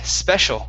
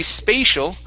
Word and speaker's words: special: special uh-huh good yeah if you say spatial spatial has to do with having a lot of space in a place okay you switch it to a short e that becomes something that's uh you know uh different and wonderful special okay okay all right very